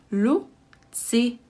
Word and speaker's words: Lucie: So the word Lucie, the name, actually has 3 syllables, or we pronounce it as 3 syllables. Lucie, Lucie, Lucie.